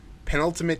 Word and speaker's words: penultimate: the the pen how do you say that penultimate penultimate season of game that's how you say it